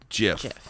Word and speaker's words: GIF: that it's a gif jiff it is a gif it is spelled it's g-i-s but it's pronounced jiff like the peanut butter so the only way